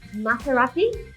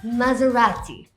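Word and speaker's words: Maserati: Ma-ser-ah-ti? Nope, it's mazz-uh-ra-ti. Like a spaghetti, ya?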